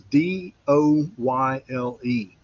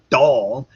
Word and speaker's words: Doyle: the last name was D O Y L E. All right. So down south that's Do O Y L E. Well, anyway, I mispronounced it and this student goes, "It's not doll, it's Doyle."